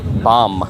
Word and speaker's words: bomb: Just like in the word bomb, like nuclear bomb, you don't pronounce the B at the end. Bomb, like it's B-O-M-B, but you don't pronounce it.